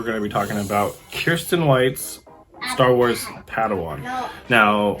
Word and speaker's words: Kirsten: many YouTubers see Kristen Kristen White no it's Kirsten White um I'm sorry there's